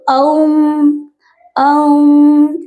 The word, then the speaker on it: ओम: ओम नहीं बोलते हैं, ओम शब्द जो है ना वो अ उ म से बना हुआ है, ठीक है। तो ओम ओम इस तरीके से आपको 21 बार, 51